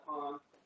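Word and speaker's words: cajón: I used to call them cajons until Matt told me that's not the proper pronunciation, is cajon. Okay, because it's C-A-J-O-N.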